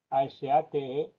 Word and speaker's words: Asategui: Mi apellido se escribe Asategui. Asategui. Bueno, UI o GI, como se quiera, ¿no? En euskera, de acuerdo a las normas gramaticales de euskera actual, sería sin la I.